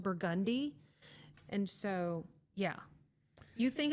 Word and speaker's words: Burgundy: It's spelled the color burgundy, but it's pronounced burgundy.